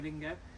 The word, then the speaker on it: Duolingo: Duolingo.